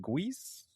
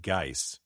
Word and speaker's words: Guice: Now, I've always pronounced, since I was a kid, I've pronounced it Geis. Geis? Jackson Geis? Yeah. Jackson. I have no idea if that's right. It's literally, I'm just going phonetic from when I was 10 years old or whatever.